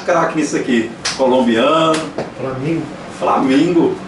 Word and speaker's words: flamingo: Flamingo. Flamingo. Mas no holandês, flamingo. Flamingo. Porque no G, né, espanhol.